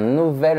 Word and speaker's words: nouvel: Ces formes particulières, belle, nouvelle et vieille, se prononcent comme les formes féminines, vieille, nouvelle et belle.